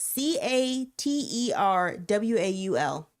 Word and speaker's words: caterwaul: Caterwaul. Cattle cat Caterwaul. Caterwaul. Yeah. Spell that. C a t e r w a u l.